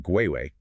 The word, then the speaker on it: Guay: to our producer, Julius Guay, on LinkedIn. That's guar y. And remember, it's pronounced gui, like in Paraguay.